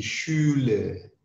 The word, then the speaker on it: Schule: Kalau SCH bacanya seperti bersiul. Di Schule.